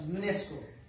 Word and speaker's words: UNESCO: okay, just like BBC, or we can pronounce these words UNESCO. Okay, UNESCO. It is not pronounced separately. Okay, UNESCO and BBC. BBC it is separately pronounced, and UNESCO it is pronounced together, combinedly.